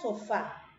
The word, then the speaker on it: sofá: en la última cita la palabra sofá es una palabra con bandas sílabas muy bien con dos con dos filas son fa perfecto y es una palabra alguna porque tiene la mayor fuerza de voz en la última sílaba cierto y lleva tilde